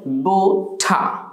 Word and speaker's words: butter: বেটি বোটার বেটি বোটার আবার আমরা জানি যে ব্রিটিশ অ্যাকসেন্টে অর্থাৎ ব্রিটিশ যে উচ্চারণের নিয়মকরণ তাতে করে আমরা দেখি যে অনেক সময় যে আর আর খুঁটি থাকলে আরের পূর্বে যদি ভাল থাকে তাহলে আরটাকে সাইলেন্ট করে দেওয়া হয় তাহলে আপনি আরটা যদি এখন উচ্চারণ না করেন according to the British accent হবে বোঠা বোঠা কিন্তু আপনি যদি র বলে ফেলেন তাহলে যে ভুল হবে তা নয় বোঠার এটাও